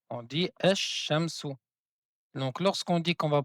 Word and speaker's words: الشمس: Donc le alif et le lam derrière la lettre shin, on ne prononce pas le lam, mais on prononce deux fois la lettre shin. On dit ash shamsu.